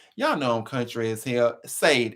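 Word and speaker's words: Sade: know country is here saved s-a-d-e that's the way my country is that's the way i see it that's where i'm pronouncing so she wanted to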